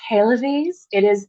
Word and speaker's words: Haelewise: It's Haelewise. Haelewise. It's the Middle High German precursor to Heloise, the French name.